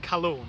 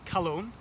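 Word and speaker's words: Calone: Now the first note I'm going to mention is called cologne and it's spelled C A L O N E.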